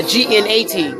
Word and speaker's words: gnat: Spell it. G-Y-A-T? Yacht. Yacht. What about a G-N-A-T?